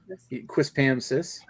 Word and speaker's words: Quispamsis: He even knows how to pronounce it. Quispamsis.